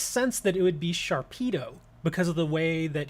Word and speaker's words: Sharpedo: that's what i was saying it's it's it's pronounced sharpedo it's it makes sense that it would be sharpedo because of the way that he attacks at